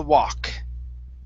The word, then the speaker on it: walk: Instead of walk, okay, the L is silent. So he continued to walk.